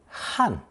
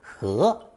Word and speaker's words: 和: And finally, in Taiwan, children are taught fourth tone 汉 for the conjunction and prepositional uses of 和, even though they're perfectly aware that some people prefer second tone 和 instead. So, I'll repeat my earlier